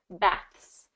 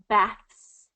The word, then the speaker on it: baths: voiceless TH is going to be a little bit easier, not incredibly easier, but baths, baths, baths, baths.